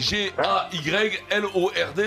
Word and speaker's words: Gaylord: Gaylord, C'est vrai que G-A-Y-L-O-R-D, c'est ça? Ouais, mais le D il se prononce pas.